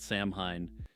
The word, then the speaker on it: Samhain: Also, I found out a couple months back that Samhain is actually pronounced Samhain, but honestly, I don't think most people would know what the heck I'm talking about.